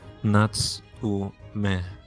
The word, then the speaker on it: Natsume: Mr. Sholmes, it's Natsume. Well, I mean, the U is surely you must know, my Japanese friend, that the U tends to be silent when preceded by